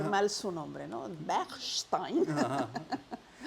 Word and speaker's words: Bechstein: para no osar pronunciar Ajá. mal su nombre, ¿no? Bechstein.